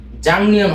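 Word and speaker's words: 작년: জাকনিয়ন এর উচ্চারণটা মূলত জাংনিয়ন হবে। জাকনিয়ন লেখা থাকবে জাকনিয়ন, বাট উচ্চারণটা করতে হবে জাংনিয়ন। লেখা থাকবে জাকনিয়ন, উচ্চারণটা হবে জাংনিয়ন।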